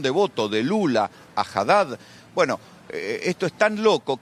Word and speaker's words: Haddad: Los medios locales han hecho notas y los nordestinos dicen Andrade, no dicen Haddad, ni siquiera lo pueden pronunciar bien.